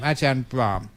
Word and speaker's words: Brahm: Ajahn Brahm. Luôn nhớ rằng có một M ở cuối. Nếu không, nó có vẻ như đồ lót của phụ nữ.